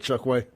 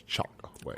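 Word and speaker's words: Chokwe: him everybody point it Chuck way I think that's the first time I've ever said his name the way he pronounces it I thought it was always chalk way let the record reflect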